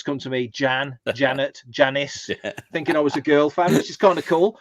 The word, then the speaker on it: Jan: as myself, but as Jan Lamona. Jan Lamona was my fanfic character, and so there's Jan Lamona. So anybody who doesn't know Jan wouldn't know that the J is pronounced as a Y.